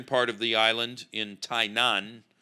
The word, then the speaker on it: Tainan: of the island in tainan which sounds a little bit like the name of the country but it doesn't sound like taipei taipei's i said tainan